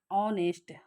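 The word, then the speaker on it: honest: Okay, तो यहाँ पर जो ऑनेस्ट दिया गया है, यहाँ ऑनेस्ट का जब हम प्रोनाउंसिएशन करते हैं तो इसके साथ हमारी वॉवल साउंड आ रही है, ऑन ऑनेस्ट। ठीक है, तो ये क्या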